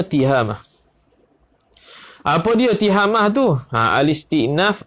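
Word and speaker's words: تهامة: Bacanya tiha, bukannya ta, bukannya tu. Bacanya tihamah.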